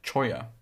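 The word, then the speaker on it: cholla: We're just getting to we just got to your your question basically pronounced choya.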